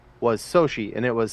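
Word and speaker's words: Xochitl: sorry Sochi Gomez who plays uh America Chavez no America yeah America yeah yeah her name is spelled X-O but it makes the sh noise so she's X oh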